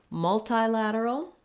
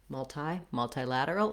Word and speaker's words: multilateral: Multilateral has two options, so we can either say multi with that same diphthong like bi and tri, or multi, in which case we're going to have the E vowel. So multi, so thinking about that like multi or multi. I guess I'll write tie, like the noun, or I mean the verb to tie.